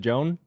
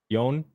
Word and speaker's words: Joan: Is it Joan? Yon.